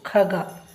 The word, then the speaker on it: ಖಗ: ಕ ಈಗ ಅದನ್ನೇ ನೀವು ಖಗ ಖಗ ಅಂದ್ರೆ ಪಕ್ಷಿ ಇಲ್ಲಿ ಏನಾಯ್ತು ಉಚ್ಚಾರ ಖ ಖ ಇಲ್ಲಿ ಕರು ಸರಳವಾಗಿ ಹೇಳಿದ್ವಿ ಇಲ್ಲಿ ಖ ಅನ್ನುವಾಗ ಹೆಚ್ಚಿನ ಉಚ್ಚಾರ ಬಂತು ಮತ್ತೆ ಅಕ್ಷರಗಳಲ್ಲಿ ಕೂಡ ನೀವು